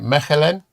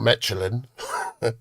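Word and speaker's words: Michelin: Meelin. Take it. It's not Mitchellin or or do you have a star?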